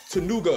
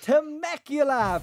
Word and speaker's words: Temecula: See, I don't know how to pronounce it. Take a guess. Tanuga. Oh, Temecula.